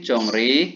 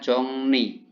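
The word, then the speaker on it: 정리: Jongri tapi bacanya jongni ya.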